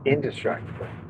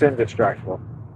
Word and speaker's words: Indistractable: It's not destructible. It's distractable. So, it's indistract undistractable. Indestructible. I think it's indistractible.